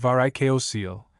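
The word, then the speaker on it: varicocele: Varicosil from the Greek pronounced varicoso seal accent on either var or seal is a condition of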